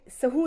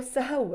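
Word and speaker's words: سهو: बताना है this is ये सहू नहीं है इसकी प्रोनाउन प्रोनाउंसिएशन जो है उसका जो वर्ड एक्चुअल जो वर्ड है वो सहव है।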